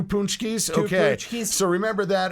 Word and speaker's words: Paczki: It's also Punchki Day. Punchki are these. It's spelled Paczki, but they are a pastry.